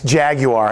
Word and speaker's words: Jaguar: actually say it right it's jaguar and for those of you that don't know it is a three syllable word and I guess that's